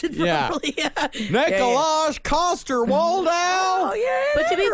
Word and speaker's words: Nikolaj Coster-Waldau: His name is Nikolaj Coster-Waldau. Oh, yeah, that I'm sure guy. you pronounced it Yeah. properly. Yeah. Nikolaj Coster-Waldau.